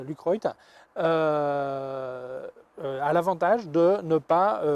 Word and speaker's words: Lucroit: Celui de Lucroy, ça s'écrit, enfin c'est Lucroy, a l'avantage de ne pas vignetter dans les coins.